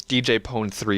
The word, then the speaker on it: DJ Pon-3: yeah but the fact of the matter is DJ pon3 is a stupid sounding it's DJ pony but